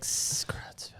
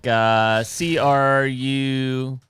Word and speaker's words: Creutzfeldt: It's like Creutzfeldt. What exactly am I C- Googling? Creutzfeldt-Jakob. It's like CRUTZFELD. Like sauerkraut.